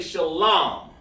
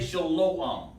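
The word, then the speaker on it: שלום: Do not say shalom. Don't do that. It's shalom. Why is it shalom? Because of this. Sha, la, and ma. There is no O sound in the Hebrew. There's no U sound.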